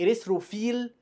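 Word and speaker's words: erythrophil: خلي بالك اي كلمه اقول لك اريثروفيل، فيل دي معناها صبغه PHIL. تمام. PH بتتنطق F برضه. اريثروفيل صبغه حمراء، وهكذا.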